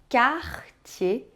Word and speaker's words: Cartier: Você percebeu que a gente só pronunciou o R do meio em Garnier, Cartier e Perrier? É que ER em francês tem som de E, entendeu?